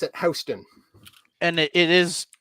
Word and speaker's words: Houston: we go so it it's spelled exactly like Houston the city uh but it's pronounced